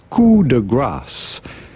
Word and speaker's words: coup de grâce: How do you go about pronouncing this in French with the typical French pronunciation as well as in English or American? Coup de grâce.